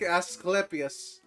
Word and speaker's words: Asclepius: Thank you, I'm Lord Asclepius. Okay, you told me how to pronounce Asclepius.